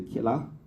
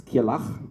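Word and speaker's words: Kirrlach: Hard to pronounce, my wife always say Killach, like it sounds like killer or something like that, but it's Killach, and it's a unique name.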